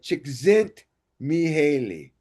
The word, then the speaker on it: Csikszentmihalyi: Okay, the flow cause comes from Michele Csikszentmihalyi. Okay, Csikszentmihalyi. That's how you pronounce it.